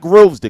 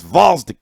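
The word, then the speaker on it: Gvozdyk: You got to take away the G. It's not Grovesdick like I've been calling him for fucking 3 years. Finally, somebody corrected me. It's Valsdick.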